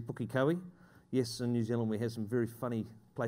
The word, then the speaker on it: Pukekohe: That's not Pookie, it's actually Pukekohe.